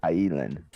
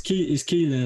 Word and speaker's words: Keelan: Yo, it's Keelan, right? Keelan. Yeah, it's Keelan. It's an Irish name, so it's a little bit difficult to pronounce.